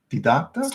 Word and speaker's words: didacta: Didac- didac- didacta? Is that how you say it? Didacta. That's the way. That is the way.